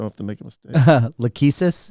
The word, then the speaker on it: Lachesis: You pronounce it, so I don't have to make a mistake. Lachesis? Lachesis.